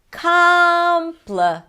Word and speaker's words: complicated: Complicated.